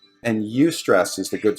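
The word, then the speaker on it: eustress: high stress but it's you stress not does your youth stress as a you I owe you I no no it's actually with an e but it's pronounced like use alright yeah and so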